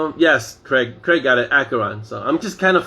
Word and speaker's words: Acheron: how you pronounce acheron as if it were k so the ch is hard like school so it's acheron not asheron acheron marsha a bite of